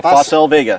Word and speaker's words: Facel Vega: This is a Facel Vega. Am I pronouncing that right? That's correct, the Facel Vega. Facel Vega.